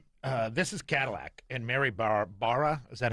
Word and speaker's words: Barra: yes, this is Cadillac, and Mary Barra, is that how we pronounce the chairman of GM? Barra.